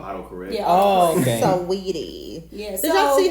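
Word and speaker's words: Saweetie: Sweetie. Yeah. Did y'all see how Tracy Ellis Ross thought to pronounce her name? How? She thought the whole time her name was Sawate.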